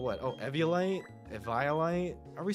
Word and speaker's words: Eviolite: Actually, no, a Violite sounds super wrong. Eviolite.